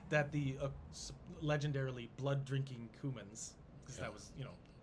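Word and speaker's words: Cumans: kieving were the the cumins humans it's spelled c-u-m-a-n like the spice yeah uh they were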